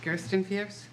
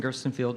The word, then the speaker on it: Gerstenfield: Justin, and I'm going to say it wrong, Gerstenfieps. You got it right. Did I? Yeah. All right. Thank you. Justin Gerstenfield, 79 Gilson Road.